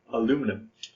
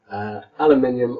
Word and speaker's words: aluminium: in different ways right I think this is actually one of those words where we spell it the same it's just that we swallow the syllable oh yeah like if